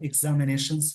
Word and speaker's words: examination: यहाँ पे देखिए, जिस वर्ड में लास्ट में TION लग जाए इसको शन पढ़ते हैं, यानी इसका जो प्रोनाउंसिएशन होता है शाम वाला श, यानी शन। एग्जामिनेशन होता है, एग्जामिनेशन बोलते हैं।